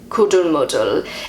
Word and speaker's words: Kuddelmuddel: and this word is Kuddelmuddel. That's how I say it. I don't know if I pronounced that right. This is the German pronunciation from Google. Kuddelmuddel. Kuddelmuddel.